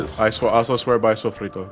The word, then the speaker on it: sofrito: That's Oh yeah, basically sofrito what it too. is. I also swear by sofrito. There's no L in sofrito. It's not sol frito. it's Sofrito chip.